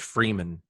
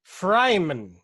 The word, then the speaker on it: Freeman: And it's his name's also, it's pronounced like it's spelled, so it's pretty easy to figure out. But how does one mispronounce Freeman? I'm curious on that. Challenge accepted. It could be Freiman.